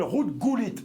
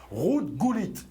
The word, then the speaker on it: Ruud Gullit: l'ancien joueur et vainqueur de l'euro il s'appelle route cool it je prononce exactement bien comme il faut ruud gullit étaient six de nationalité irlandaise néerlandaise ou allemandes